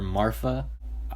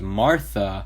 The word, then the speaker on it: Marfa: I just now learned her name is spelled with an F I always thought Jacob had a lisp or something when he would call her Marfa I thought her name was Martha with a th but no it's Martha